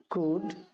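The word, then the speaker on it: could: এগুলোকে কখনো কুলড বা উড বলবে না। এগুলোর সঠিক উচ্চারণ হচ্ছে কুড।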